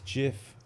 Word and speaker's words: GIF: word he's the man and he says it's jiff how can we be so how do you